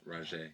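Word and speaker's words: Rozhá: Raj. Raj. Raj. Raj. It's Raj. Raj. How do you spell that?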